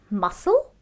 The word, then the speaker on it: muscle: The first word is muscle, okay, because C is silent.